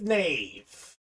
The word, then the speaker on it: Nave: Nicholas cangelosi and Joseph Nave a knave like the wave I know that for sure because he told me that's how it's pronounced uh so let's keep